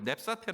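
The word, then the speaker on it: νήψατε: 그 신은 헬라 로 헬라어로 발음 하길 넵 사태 라고 발음하는 데 원무 네 뜻이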